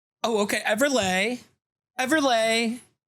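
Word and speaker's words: Everleigh: Is s l e i g h. So I would say everlay. Oh, okay. Everlay. Everlay.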